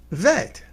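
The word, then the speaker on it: ב: bit uh but there a letter bet without the dot in the middle next to it right which is pronounced vet ah so depending upon whether you got that dot in the middle it tells us how to pronounce it and some look it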